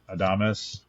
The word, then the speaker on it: Adames: The other big loss, Willie Adames, I think that's how you say it.